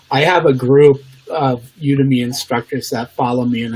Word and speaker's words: Udemy: Udemy. Yeah, it's like the world's largest platform for online courses, and I've been teaching courses since 2014. I have 11 courses on there. I have a group of Udemy instructors that follow me, and I just shared